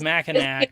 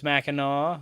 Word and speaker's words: Mackinac: fudge uh it's actually mackinaw i thought it was mackinac for a long time right english is stupid ultimately um read oh yeah yeah like like we have so many things no like this is silent and that's silent but if for you people's out there it's mackinaw like i i've got